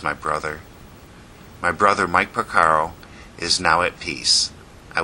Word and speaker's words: Porcaro: this year this time it's Mike Porcaro from the soft rock group Toto those last he may also be pronounced Portero so if I mispronounce it my analogies sadly